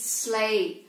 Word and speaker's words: sleigh: of the trees that's it how do you pronounce this word sleigh it's sleigh and you can see it on the picture